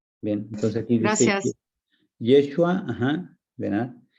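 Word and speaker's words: ישוע: Aquí en esta primera parte dice Yeshua, Yeshua o Yeshua.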